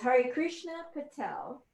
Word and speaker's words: Harikrishna Patel: His name is Harikrishna Patel. Did I pronounce ooh, that all right?